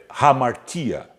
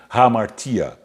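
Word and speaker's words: ἁμαρτία: a palavra pecado é ramatha perdoem a pronúncia hamartía que tem o mesmo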